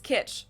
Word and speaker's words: Kitsch: is full of 1950s kitch it means the same thing in German and in English and it's also pronounced the same there's also the English